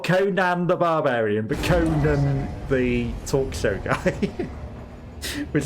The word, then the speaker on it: Conan: which is you know why I said Conan not Conan I don't know if that's even a thing in America that they would be different pronunciations but to me Conan the Barbarian and conun the talk show guy okay we need to